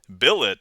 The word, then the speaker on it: billet: Peter petrol and Patrol Billet does not end like ballet bouquet wallet Mallet Chalet blood